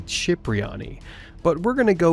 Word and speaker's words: Cipriani: Tony's last name is pronounced two different ways in the game, Cypriyani and Cipriani. Technically, the correct Italian pronunciation would be Chipriani, but we're going to